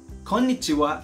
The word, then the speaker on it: konnichiwa: use it anytime but make sure that you pronounce this word correctly konnichiwa should be five syllables in the japanese language as in or four syllables in english or in filipino language as in konnichiwa again this japanese expression